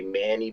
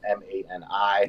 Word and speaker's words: Mani: You know ma they'll say Manny because it's m a n i, right? But it's really it's mani. It's pronounced mani and it's only pronounced